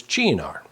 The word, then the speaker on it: Cynar: So we are going to use 1 teaspoon of, let's say it like the Italians, Cynar.